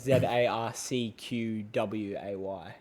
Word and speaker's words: Zarcquae: It's pretty much, it sounds like ZARCQWAY.